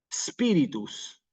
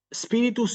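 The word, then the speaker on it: spiritus: a la pronunciación italiana para no decir aquí espíritus sino espíritus sí espíritus sancti nuevamente Santi una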